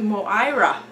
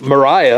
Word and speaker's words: Moira: We are going to Moira. Where? Moira. Sure, Moira. It's not Mariah. It's not Mariah, it's Moira.